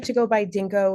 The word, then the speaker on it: DNKO: like to go by Dinko which is our initials DN KO we just pronounce it Dinko which makes a little bit more fun to say uh and we're really